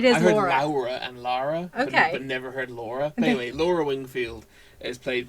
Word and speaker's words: Laura: ways Lizzie Annis plays Laura or Laura as they were pronouncing it I think that might just be an accent okay heavy-handed attempt at a Southern accent maybe I heard Lara every time but it is okay